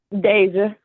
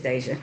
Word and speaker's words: Deja: Well, what's the correct pronunciation, ma'am? Deja. Okay, it is Deja.